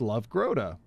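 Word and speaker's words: lövgroda: of it fun fact leaf frog in Swedish is called love grota and is basically pronounced love grota it's pretty cool I wonder what a leaf frog looks like love grotta love grotta all right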